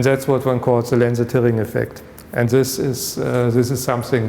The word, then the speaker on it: Lense-Thirring: They were Austrian. Yeah? So it's not Lense-Thirring, so it's really Lense-Thirring.